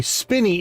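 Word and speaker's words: Spinney: So, the Spinny is the correct pronunciation.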